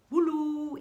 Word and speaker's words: Wu Lou: visiter en fait l'Asie, c'est le Woulou, ici présent, donc ça s'écrit W-U-L-O-U.